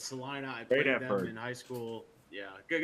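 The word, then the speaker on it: Celina: going to pronounce i everybody pronounces Selena it's Selina I in school yeah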